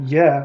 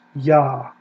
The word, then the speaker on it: Yah: of the divine name Yah, the two consonant short form, has an A vowel consistently in the Hebrew Bible. It doesn't have Yah, it's not Yah like short for Jehovah, it's Yah.